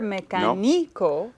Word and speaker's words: mecánico: Any word that ends with an O should normally carry stress in the second to the last Which syllable. in this case would be the ni. On the knee, but I don't hear mecánico. Nope. So we want stress on the third to the last syllable, Correcto. and it needs an accent.